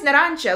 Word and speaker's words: Narancia: His name is Narancia, like orange. And it's pretty simple to recognize because I guess in Italian it's Narancia and in Spanish it's Naranja. So super close.